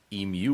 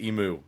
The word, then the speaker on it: emu: Emu War. And it's a doozy. It is not pronounced emu. It's emu.